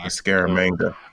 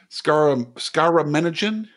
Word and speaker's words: Scaramanga: Scaramanga. See, I was trying to remember how to pronounce that. Scaramanigan?